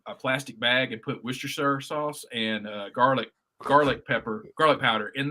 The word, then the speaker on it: Worcestershire: Hey, you are one of the first people from below the Mason-Dixon line to actually pronounce Worcestershire sauce correctly. Worcestershire.